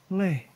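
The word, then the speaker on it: leat: Late. Tapa late. It's pronounced late in Scottish.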